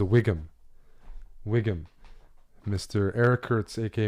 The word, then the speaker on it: WGM: A WGM, if you want to say it out loud, is a Wiggum.